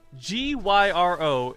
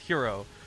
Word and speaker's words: gyro: like a hero man I know Gyr o is gyro a right like gyrocopter from warcraft III all right it should not be pronounced hero so I'm sorry Greek